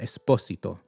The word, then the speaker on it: Esposito: So the s would just be a regular s esposito.